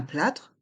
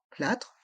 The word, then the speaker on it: plâtre: fracture une brûlure un plâtre un bandage un plâre un bandage ici dans Le mot plâtre le a a un accent circonflexe on le prononce bien un plat un bandage